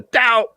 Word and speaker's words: DAO: Although I like to pronounce it, Homer's catchphrase, I like to call it the DAO, because that's exactly what happens.